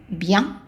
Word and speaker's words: bien: The I becomes a Y, y, and then the EN becomes ya, bien. Now, if we want to say very good, we take the same thing, which is bien, and then we add très, très.